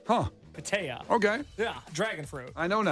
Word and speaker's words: pitaya: The official name of it is, I don't know how to pronounce it. So, Say, I want to try it. Pitaya. That sounds about right. Pitaya. Huh. Pitaya.